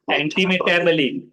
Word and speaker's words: antimetabole: हाँ, एंटीमेटाबली ऐसे। Just on that form. तो So इसको एंटीमेटाबली ऐसे पढ़ना है। तो इसको ये बोले या बोल नहीं पढ़ना है। एंटीम टेम, एंटी मेटाबली, इसको एंटीम यहाँ तक पढ़ लेना है।